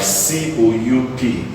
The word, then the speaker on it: coup: We also have words like C-O-U-P. You'd realize that this word is called coup. Coup. There are many other words like that where the P is silent.